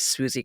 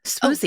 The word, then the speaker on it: Swoosie: he finally gets to court, and the opposing lawyer is Swoosie Kurtz.